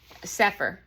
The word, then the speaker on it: Sepehr: is from uh Robert S P HR sephr is how you say it but I want you